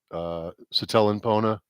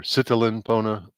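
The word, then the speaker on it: sitelen pona: The left is the Satellinpona or Sitalinpona, if you want to be exact with your pronunciation, for walking or go.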